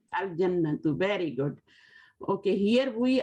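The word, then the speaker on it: الجنة: Al-Jannatu. Al-Jannatu, very good. Okay, here we are reading Al, you know, Al-Jannatu, because these are Qamri letters. In Qamri letters, we pronounce Alif, Lam, Al, okay?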